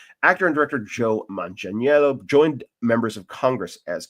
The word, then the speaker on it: Manganiello: I've been practicing properly pronouncing his name. Actor and director Joe Manganiello joined members of Congress as keynote speaker at the annual Congregational Armenian Genocide Commemoration.